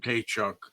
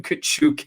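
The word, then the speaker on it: Tkachuk: tchuck that's how they announced called tchuck that's how they announced him at the game and that's how they referred to him and then finally they said you know what we'll use your correct pronunciation and they called him kachuk after that he's Ukrainian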